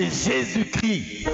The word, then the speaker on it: Jésus-Christ: Euh en réalité, quand vous commencez par Jésus et que vous devez prononcer Christ, on dit Jésuschrist. On ne dit pas Jésuschrist en français, on dit Jésus Christ.